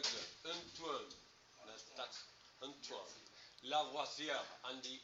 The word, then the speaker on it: Lavoisier: Lavoisier, and the R at the end is like a Antoine Lavoisier, something like that. Okay. So, Antoine Antoine Lavoisier is often referred to as the father of modern chemistry.